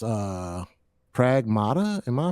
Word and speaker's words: Pragmata: It's uh Pragmata. Am I pronouncing that right?